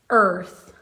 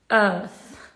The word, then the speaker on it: earth: in american english it's earth in british english is earth you don't pronounce the r uh now this word